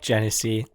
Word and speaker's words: Genesee: So Bolton Landing saying, fuck Genesee.